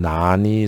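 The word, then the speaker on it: 難易: 이것은 읽는 법이 역시 역과 이가 있는데, 역은 타동사일 때 무엇을 바꾸다 라고 할 때 역이라고 읽고요. 쉽다 라고 할 때는 이때는 형용사고 이라고 읽습니다. 나는 어렵다라고 하는 뜻의 형용사이기 때문에 형용사하고 짝이 되는 건 타동사가 아니고 형용사예요. 그래서 난이라고 읽어야 돼요.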